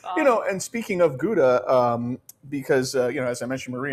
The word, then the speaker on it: gouda: of gouda is actually hauda and that's how they say it in the netherlands so uh for you